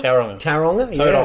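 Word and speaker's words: Tauranga: Taronga, yeah. actually. Yeah, Taronga. yeah, hard to pronounce. That's Aussie, hard to pronounce. You gotta roll the R.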